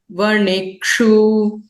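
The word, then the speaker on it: वणिक्षु: Vaniji vanijoho vanikshu. Vanikshu, hrasva ukara.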